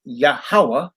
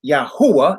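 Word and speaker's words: Yahuah: Bible calls him yah we pronounce his full name as yahwah some people say yahuwah and that's fine with us we have no problem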